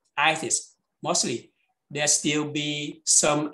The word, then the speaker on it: itis: Don't pronounce E, not itis, itis.